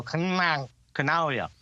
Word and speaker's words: Canaglia: And like, just instead of saying the G, stick your tongue on the top of your roof and go, Canaglia.